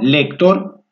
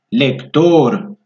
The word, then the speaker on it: lector: Por ejemplo, lector. No lector, lector.